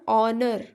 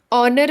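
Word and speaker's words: honour: और ऑनर, ऑनर भी एच से स्टार्ट हो रहा है, लेकिन इसका हिंदी उच्चारण अ से स्टार्ट हो रहा है, इसलिए हम लोग यहाँ पे एन का यूज करेंगे।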